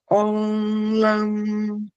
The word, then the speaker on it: lam: sempre puxando o M, né? O o final, a forma correta de se pronunciar esse mantra, né? L com a boca fechada, né? O lã, como, né? A a em português a gente costuma falar lam. É lam e puxa esse M.